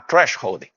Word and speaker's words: thresholding: Ah, temos um americano aqui, temos um how to pronounce thresholding. Thresholding. Ah, thresholding.